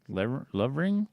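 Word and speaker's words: Lovering: lover lover lover ring yep love ring I spell it in the book it's l.o.v.e are ing love range love ring so Holmes left her to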